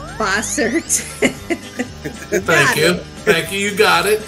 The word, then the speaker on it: Bossert: David oh you know I me your name boser boser thank you thank you you got it you